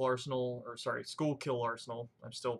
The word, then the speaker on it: Schuylkill: purchase item from what I understand guess the shukla Arsenal or sorry Schuylkill Arsenal I'm still pronounce it wrong from time to time please